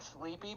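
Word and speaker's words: Sleapy: now no it's sleepy it's like sleepy but spelled like s-l-e-a-p-y it's actually it's actually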